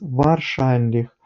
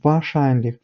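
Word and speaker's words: wahrscheinlich: міг зрозуміти тому що вимовляли якраз варшанліх це неправильно тому що буде вашанліх І Давайте перевіримо де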